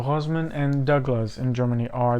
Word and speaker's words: Rossmann: So I could find that Rossmann, that's not how you pronounce it. So Rossmann and Douglas in Germany are the official retailers of Dita Von Teese perfumes.